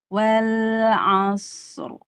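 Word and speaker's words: وَالْعَصْرِ: Shadnya tebal dan rakhawah. Ainnya tipis. Nah, jangan ain ke bawah tebal. Jadi bacanya wal asr. Wal a tipis. Asr wal asr.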